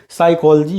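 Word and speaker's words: psychology: साइकोलॉजी है, साइकोलॉजी का P silent होता है।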